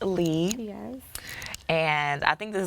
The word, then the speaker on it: Lea: spelled le a and a lot of people would pronounce it Leah but it's actually and I was like